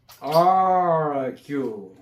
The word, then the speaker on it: argue: argue. argue. 그냥 argue 이런다고 R 발음은 천장에 붙는 게 아니고 붙을까 말까. argue 이런 식이에요.